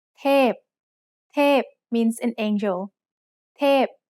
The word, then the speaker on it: เทพ: เทพ is a falling tone. Now let's write it. สระเอ ทอทหาร พอพาน เทพ Remember that most vowels come in long and short pairs.